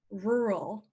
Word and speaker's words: rural: hi to us this one is difficult to pronounce even for English speakers this word is rural rural and rural is another word for the